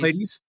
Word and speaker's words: Pladies: Pladies.